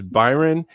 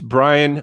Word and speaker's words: Brian: have the same problem think people think my name is byron it's brian with a yo folks so all right